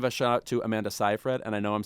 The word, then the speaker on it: Seyfried: I want to give a shout out to Amanda Seyfried, and I know I'm saying it right because her name rhymes with rye bread.